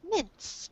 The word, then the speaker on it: mince: And this word, it has a short I sound, so it's pronounced like mince, mince.